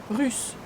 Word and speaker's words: russe: et E fermé, et le russe, U. When you pronounce U, your tongue touches your lower teeth and your lips go forward.